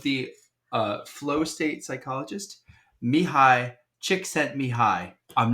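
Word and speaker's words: Csikszentmihalyi: say I I want to correct myself the pronunciation of the uh Flow State psychologist Mii chick sent Mi High I'm not joking Mii chick set Mi High that's how you pronounce his name okay nailed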